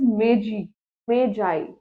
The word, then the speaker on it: Magi: This is Magi, right? It's basically Magi. It's not Maggie.